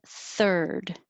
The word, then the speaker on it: third: clean 15 third think of this ir as just r just making the noise are er you put your tongue curled back near the front but curled back and you just make noise er that's it third and then go back